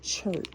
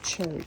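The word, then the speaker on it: chert: gave me a free gift this is called chur now I'm not familiar with chur is spelled c h e r t and this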